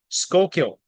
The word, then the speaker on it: Schuylkill: it last week but it's skull kill County and and I didn't realize there was ftic spelling right there when I was I was saying I don't know how you say it shill or what anyway skull kill county is how they say that I just want to